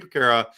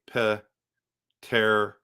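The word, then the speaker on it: Peterka: What do you give up to get JJ Piquet and probably Bowen Byram? So it's pronounced JJ Paterka. Paterka? Is it Paterka?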